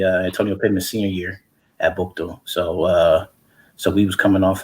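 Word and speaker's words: Buchtel: And it's pronounced Bukto. So I just wanted to because we hear that all the time, and but yeah, it's Bukto, man.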